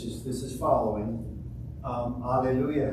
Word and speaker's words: Alleluia: this is following um Alleluia has four syllables I'm sorry five syllables yeah five syllables we're used to an English um so uh we